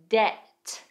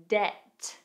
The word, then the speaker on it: debt: Containing a silent B, we have comb. Comb climb. Climb. Debt. Debt.